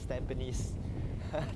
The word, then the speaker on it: Tampines: Okay, do you actually pick this merchant from Tampines? Like what the heck, Tampines is pronounced as Tampines. Tampines, they go and pronounce. Malaysian, they'll pronounce Tampines one.